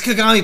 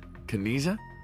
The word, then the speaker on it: Kagami: to remake your whole face like that it's kagami but i can't tell him that otherwise he'll